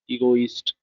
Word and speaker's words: egotist: to tell you that how it can pronounce egotist he must give the most more means distress on e then go east ego east ego east now can